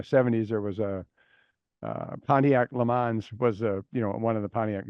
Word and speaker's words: Le Mans: Yeah, the French is Le Mans, Le but Mans. we always Le Mans, yeah. Okay. But we always say Le Mans.